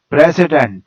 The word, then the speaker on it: president: chest pulse is used the english words president has three syllables press i indent and the first syllable is stressed and it is on